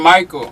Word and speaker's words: Mickael: It's Mickael. Okay, Mickael.